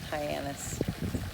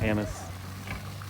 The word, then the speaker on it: Hyannis: Hyannis. Hyannis, yes. We've been saying other words that aren't appropriate. We're getting better. How do these people say this word? Hyannis. We're going with anise. Right? Hyannis.